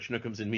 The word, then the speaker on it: Shnookums and Meat: is my absolute favorite schnooks and me and you have to say it like that because that's how hey that's how it said in in the cartoon plot uh this goes